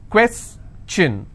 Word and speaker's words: question: have the word question how many syllables two quests chin all right and i will stress here question clear so the rule